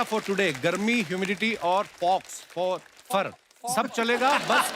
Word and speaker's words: faux: एक्स को pronounce ही नहीं करते। फॉक्स, Fofer. फोफा। तो एक्स नाम नहीं लेना उसका, ना, साइलेंट है वो।